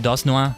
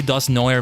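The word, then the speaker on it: Dusknoir: how could I forget dos Noah ah nice sorry I think it's supposed to be do noer but I just like saying it in the French pronunciation we have Garda do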